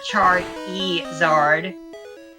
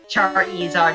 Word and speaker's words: Charizard: me there Charizard Mr Char eard Char eard is how pronounced in the stadium games for whatever reason so